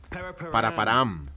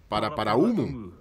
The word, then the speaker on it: Paraparaumu: Paraparam. Se pronuncia Paraparaumu. No sé de dónde viene el Paraparam.